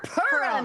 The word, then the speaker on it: Purim: It's pronounced Purim. You Purim. Purim, It's a U.